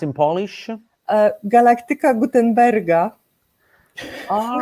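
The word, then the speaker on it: Galaktyka Gutenberga: But it's how do you pronounce in Polish? Galactica Gutenberga.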